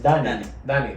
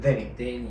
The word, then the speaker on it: Danny: Por ejemplo, para mí, mi nombre es Danny, pero las personas aquí en inglés dicen Denny.